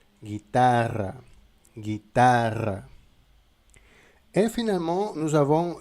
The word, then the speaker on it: guitarra: Et finalement, comme en français, avec un "g" et "u", la prononciation c'est "gue". Par exemple, dans le mot guitarra guitare.